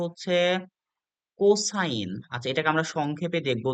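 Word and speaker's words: sec: আমরা পড়বো হচ্ছে কস বলে জানবো টানজেন্ট এটাকে সংক্ষেপে লিখা হয় বা অংক করার সময় আমরা লিখবো টান এটাকে আমরা উচ্চারণ করবো টান আচ্ছা এরপরে কোটানজেন্ট কে আমরা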